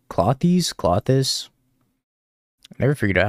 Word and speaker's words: Klothys: Is it like Klothys? Klothys? I never figured out how to pronounce this card correctly. Klothys? I'm allergic to Klothys. I always call him Klothys, but apparently that's not right. Like cloister.